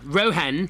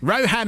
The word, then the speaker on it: Rohan: See, very Indian way I pronounce it. Well done. Well done. I could have said Tanmay. Yeah, good. And Rohan. Rohan. Rohan and Tanmay.